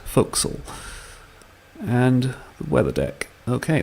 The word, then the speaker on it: forecastle: two so reveal the fo'c'sle deck things I learned from Gilbert and Sullivan although this is spelled forecastle it is pronounced fo'c'sle and the weather deck